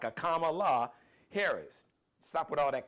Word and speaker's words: Kamala: Stop mispronouncing her. Y'all can, come on. You know how to pray. Look, half of y'all name y'all babies with all these exotic ass names so you can pronounce Kamala. That's two syllables.